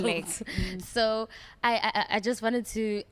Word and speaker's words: Blek: It's like the way, Blake. like the way it's spelled. Blake.